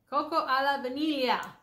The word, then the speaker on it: Cocco alla vaniglia: Cocco alla vaniglia. Cocco alla vaniglia.